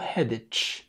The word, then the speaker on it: headache: الكلمة دي غلط، بيقولوا headache. وفي كلمة تانية برضو هناخدها كمان شوية في نفس الحلقة دي، برضو بسمع ناس كتير بتقولها غلط، اسمها headache headache، لأن ال CH برضو بتعمل صوت ال K.